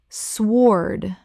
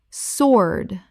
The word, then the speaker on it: sword: Common mispronunciation. Swoard. Correct pronunciation. Sword. The W is completely silent. It rhymes with lord.